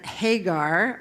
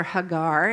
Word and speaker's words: Hagar: today from Sarah and Hagar or Hagar is that the Hebrew word for that and the rabbi has assured me that you can pronounce it either way and still be correct so no worries about